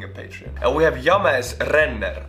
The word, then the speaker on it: James: And we have James Renner. I'm saying James, that's an Estonian pronunciation. It's James, of course.